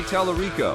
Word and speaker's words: Tallarico: Of course, as longtime viewers of Electric Playground already know, E3 1995 is where I first met the inimitable Tommy Tallarico.